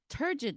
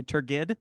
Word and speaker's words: turgid: the only thing that makes it worse is when people say it wrong and say turgid Oh, because they've only read it and never heard it spoken aloud.